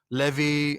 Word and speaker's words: Levi: is spelled, Levi, like Levi, the jeans, right?